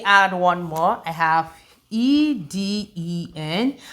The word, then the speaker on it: Eden: I have E-D-E-N. How do you pronounce this word? It is pronounced Eden, Eden.